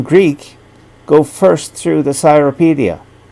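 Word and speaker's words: Cyropaedia: go first through the cyropedia therapedia being the anglicized uh pronunciation and then read herodotus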